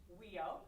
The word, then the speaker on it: WEIO: world eskimo indian olympics affectionately known as weo that's how you pronounce it amber just got her